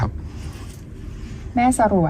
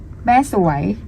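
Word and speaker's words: แม่สรวย: แพรก กสา ถูก ครับ แม่ สรวย ผิด ครับ แม่ สรวย ม ครับ อยู่ เชียงราย แม่ สวย ถูก ครับ เมือง เมือง สรวง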